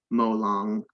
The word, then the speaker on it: Molong: Note, Molong, a Penan word, is pronounced Molong with stress on the second syllable.